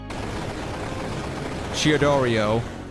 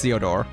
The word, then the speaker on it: Theodore: Chiodorio. Chiodoro. No, it's Theodore.